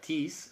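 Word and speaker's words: τοῖς: Ese por está implícito en la palabra tis, se escribe tois, tis, y es porque te está tratando de decir que la muerte es debida a eso.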